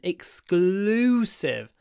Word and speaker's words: exclusive: another case where we have a in Russian but a l in English so in Russian your mouth is closed so it makes sense to say but in English L the mouth is open exclusive and that's why the l comes out harder loose exclusive access to the band L open your mouth exclusive what else can